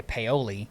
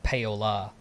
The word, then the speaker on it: Paola: It's Paoli. So most people would say Paoli. Yeah. But it's Paola.